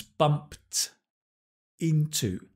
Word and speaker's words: bumped into: Notice the pronunciation, the past tense, bumped into, tinto, bumped into.